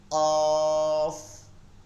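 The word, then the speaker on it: قاف: নম্বর হচ্ছে আলিফ আলিফ আলিফ তিন নম্বর হচ্ছে কাফ কাফ চার নম্বর হচ্ছে কাফ কাফ কাফ এই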